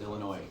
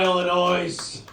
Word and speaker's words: Illinois: out on you if you pronounce the S at Illinois not Illinois Illinois you jagoff hang on